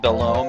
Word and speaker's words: Belome: Watch out for Belome. Okay. I pronounced it Belome as a kid, but I think Belome makes more sense.